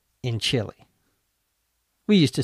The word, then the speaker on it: Chile: eat chil chili in Chile we used to say stuff like that when we were kids same pronunciation three different spellings isn't English wonderful the